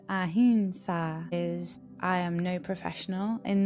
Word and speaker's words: ahimsa: And then the first yama is ahimsa. So we can hear these pronunciations very differently, and it's ahimsa.